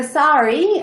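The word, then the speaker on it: SAERI: atlantic environmental research institute so sorry as our acronym is pronounced was opened in 2012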